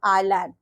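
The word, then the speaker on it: island: एल ए एन डी हम लिखते तो बच्चों इज लैंड है but here S is silent so we pronounce it आइलैंड then I am lower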